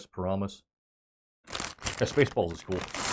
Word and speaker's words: Paramus: Am I pronouncing that right? Paramus. Yeah, Spaceballs is cool. Paramus, that's what it is.